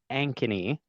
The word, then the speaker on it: Ankeny: all or maybe first direct me on the pronunciation I'm sure I slaughtered it so it's called Ankeny Ankeny yes Ankeny and actually that's where I'm